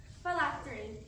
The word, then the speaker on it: phylactery: Phylactery. Am I pronouncing that correctly?